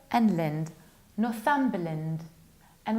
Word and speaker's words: Northumberland: And another county, this one, it's Northumberland, Northumberland. We reduce the ending b and land, Northumberland.